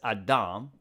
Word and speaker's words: Adam: In Hebrew, by the way, we pronounce it as Adam.